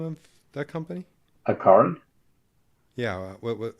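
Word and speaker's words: Accorin: Aaron. Yeah. What? How do you spell it?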